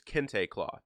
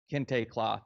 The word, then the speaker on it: Kente: how do you say it again that it's Kinte cloth yeah Kinte cloth it stands out and it jumps out at